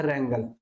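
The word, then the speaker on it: wrangle: dispute हो जाना या रंगल रंगल बोलेंगे इसे डबबल इस में साइलेंट रहेगा रंगल ठीक है चलिए नेक्स्ट हमारा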